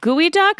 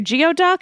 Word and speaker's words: geoduck: Is it gooey duck or geoduck? It's spelled like geoduck, but I feel like that's Geoduck not from how you... Pokemon? You want to eat a Pokemon? It's a giant clam that looks kind of obscene. I think it's pronounced like goyduck.